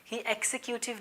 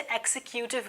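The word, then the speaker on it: executive: है एक्स की सीआईडी इसे लोगों से एक्सिक्यूटिव बोलते हैं पर इसकी स्याही प्रनंसीएशन है एक जाकर थे एग्जीक्यूटिव तो इसके बाद आपको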